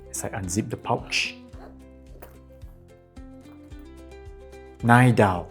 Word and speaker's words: Ixdao: Ixdao, or Ixdao. Alright, the Chinese pronunciation is so much better, Jiudao.